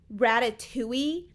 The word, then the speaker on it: Ratatouille: It's Ratatouille.